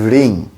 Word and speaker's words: ঋং: রামকৃষ্ণ স্তোত্র সেখানে ওম ঋং ঋতাং এই ঋং এর উচ্চারণটি আমাদের হবে রিং হ এর র ফালা